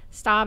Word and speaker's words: Staab: Staab is with two A's. Everybody always pronounces it incorrectly or spells it incorrectly, but it's S-T-A-A-B. I tell people it's just like the car with a T, and then they go, oh, yeah.